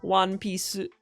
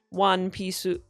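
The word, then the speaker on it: ワンピース: Not cool but the su the u in s. You don't really pronounce the uh as much. You really kind of keep it as one piece.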